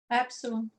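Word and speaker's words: ἔψιλον: Epsilon. Epsilon. Formato maiúsculo, que parecido com o nosso E maiúsculo, ok? E o formato minúsculo. A pronúncia é semelhante ao E na palavra mel. Perfeito?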